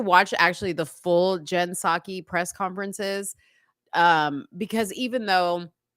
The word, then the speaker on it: Psaki: Jen Pasek or something like that. Jen Psaki. Psaki. Okay. I said Pasek.